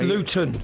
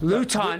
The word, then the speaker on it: Luton: You have lived in Luton or Luden, I would say you know, I don't know Luden, I don't know. I apologize and then you know, It's Luton. Luton. We don't pronounce our Ts.